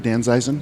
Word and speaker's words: Danzeisen: Well, Eric Green, my friend and friend of the show and employee of Danzeisen. And am I saying it right, Danzeisen? You are.